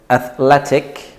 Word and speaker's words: athletic: for example we have athletic right so we say eth Le tick athletic and then we have